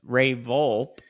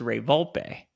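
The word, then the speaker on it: Ray Volpe: and then it was Ray vul who actually his name is pronounced Ray vulpe rayp bring out the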